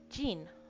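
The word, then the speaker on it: じん: We can say it N-I-N, neen, or we can say it J-I-N, Jean, okay?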